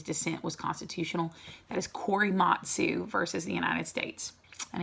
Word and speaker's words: Korematsu: So it looks like Corey, Matt, Sue. Kore, so that's the Corey, then Matt, M-A-T, and then Sue, S-U, okay?